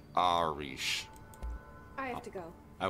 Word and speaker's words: Arish: His name is pronounced Arish.